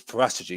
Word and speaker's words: Paratici: um it was paratichi that well it was poratagey because that's how you say it prattagi um